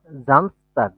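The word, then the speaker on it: Samstag: নাই তারপর হচ্ছে জামস জামস টাগ এটার এর প্রোনাউন্সিয়েশন কি হবে বলেন তো জামস তাক জামস তাক জামস জামস হ্যাঁ জামস তাক তাগ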